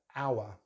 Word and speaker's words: hour: Sometimes we don't pronounce a letter H in British English, especially if it's a recent loan word from the French language. Like for instance, what time is it? We look at the hour, hour.